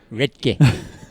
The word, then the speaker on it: Redcar: Right, okay, because it's not pronounced Redcar, is it? No, it's pronounced Redke.